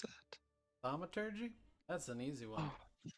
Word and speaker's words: thaumaturgy: How do you pronounce that? Thaumaturgy?